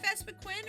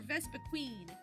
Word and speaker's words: Vespiquen: Right now we're working on Vespiquen, is it Vespiquen or Vespiqueen? I know it's only spelled with one E. I call her Vespiqueen. I don't know. I know there's only one E.